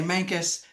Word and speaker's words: Mancos: And that's Mus Colorado and Mus Everybody Everybody says it funny when they come here. We say Manus, but it's spelled M- an N OS.